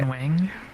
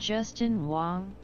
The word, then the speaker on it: Justin Wong: Justin Wing. Justin Wing. It was something like Justin, right? Justin Wong. I got his name wrong. It's Justin Wong.